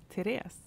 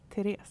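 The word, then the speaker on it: Tereze: Therese. Right. And it's spelled? Oh, T-E-R-E-Z-E. Okay. And once again, it's pronounced? Therese.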